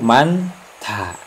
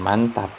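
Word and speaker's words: 많다: Contoh yang kedua yaitu manta. Ini manta, bukan mantap ya, manta. Nah, ini ada man, ini ada hiat, ada diget. Hiat bertemu diget, maka hiat itu tidak berbunyi dan digetnya itu berubah menjadi hiat. Jadi man ta.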